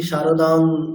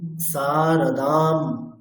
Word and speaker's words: সারদাং: is equal to মারা আমরা বাংলাতে যেমনটা উচ্চারণ করি না যে জননী সারদাং এরকম আমরা তাহলে আর এখন থেকে এরকমটি করবো না আমরা অনুস্বার দেখলেই তার উচ্চারণটি কেমন করব মকারের মত তাহলে কেমন হচ্ছে জননী সারদাম দেবী ম অনুস্বার